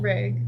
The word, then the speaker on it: Reg: See, I've been saying his name wrong. Reg. I thought it was Rev for some reason.